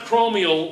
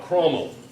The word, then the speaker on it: Chromel: It's CHROMEL. CH, ROMEL. It's 90% nickel and 10% chromium. In 90% nickel. So it's not chromial like this. No. All right, so how do I spell it? CHROMEL, chromal.